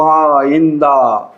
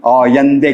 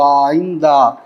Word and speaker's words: آئندہ: باز بر رفتہ و آئندہ، ایرانی آئندے کہتے ہیں. باز بر رفتے و آئندے نظر باید کرد، لیکن ہم اس طرح نہیں پڑھیں گے، ہم تو اپنے لہجے میں پڑھیں گے.